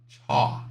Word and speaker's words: chalk: Chalk. Chalk. This is this is pronounced chalk.